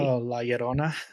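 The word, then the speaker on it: Llorona: pronounce how do you pronounce love Lona you pronounce it properly Lerona thank you there will be her there's G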